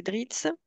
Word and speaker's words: DRETS: l'État, à travers les DRITS, ou la DRETS, suivant comment on veut le prononcer à l'anglaise ou à la française, et les OPCO.